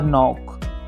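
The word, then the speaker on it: knock: तो इनकी प्रोनाउंसिएशन कुछ इस प्रकार से हो जाती है, नो, नाइट, नॉट, नाइफ और नॉक।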